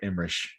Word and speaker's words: Emmerich: It's like just the name Roland Emmerich, You have to say it right, Imrish.